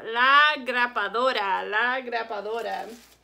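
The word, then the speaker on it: grapadora: kids always tell me it sounds like grandpa and dora like grandpa dora so that's a funny way to remember this one so lagra padora so if you if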